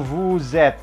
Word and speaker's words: vous êtes: Lalu berikutnya ini adalah vous êtes, bacanya vous êtes. Ini iya ketemu huruf hidup, maka tuh satu S di tengah dua huruf hidup menjadi Z, vous êtes.